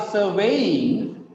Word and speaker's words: surveying: They are surveying the land. Okay, here the stress is on second syllable.